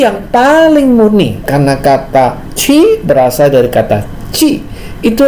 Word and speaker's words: qi: Qi, tulisannya QI ya, bacanya qi, berasal dari kata qi.